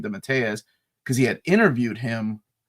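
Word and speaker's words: DeMatteis: name JM d mattius d mattius is the way I used to pronounce it and then I think Curtis corrected me and said it's JM DZ because he had interviewed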